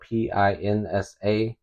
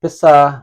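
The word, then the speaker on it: pisa: see pinsa uh spelled p i NSA and some people might say pinsa that is not the correct pronunciation it's and so I'll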